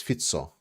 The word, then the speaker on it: Fico: relatively small fit f is pronounced as fito okay so fito so is